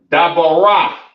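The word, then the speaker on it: דבורה: Pronounce Dabarah. Dabarah in the Hebrew.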